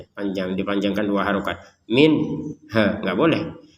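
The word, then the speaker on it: منها: Kullama ruziqu minha. Ruziquya dipanjangkan dua harakat. Minhaya nun sukun bertemu ha. Kita baca dengan jelas.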